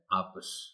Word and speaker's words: آپس: جانا چاہیے۔ آپس، آپس، آپس بعض اوقات کچھ لوگ بول جاتے ہیں، درست تلفظ ہے آپس۔ رسول، اصل میں ہوتا